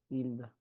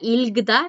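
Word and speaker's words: 읽다: hilda, sí, ahí no suena, sí, sí, No suena la G porque le sigue una ajá, consonante. No suena este bachim G. ajá, hilda, Perfecto. Hilda. No se pronuncia Ilgda, es Hilda. Porque le siguió una consonante.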